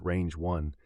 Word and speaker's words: RNJ-1: The model, named as an homage to mathematician Ramanujan and pronounced Range 1, positions itself as optimized